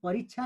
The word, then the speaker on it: परीक्षा: अब हेर्नुहोस्, प रिक, अनि त्यसपछि छ्या हेर्नुहोस्, छ्या हेर्नुहोस्, परीक्षा, परीक्षा भनेर उच्चारण गर्न परीक्षा भनेर उच्चारण गरिन्छ। कहाँ जान लागेको भन्दा म परीक्षा दिएर आएको, परीक्षा दिएर आएको भन्छौँ, त्यो चाहिँ उच्चारण शुद्ध हो।